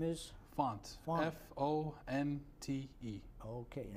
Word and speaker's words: Fonte: last name is font f-o-n-t-e okay and how do you pronounce it font font font all right because I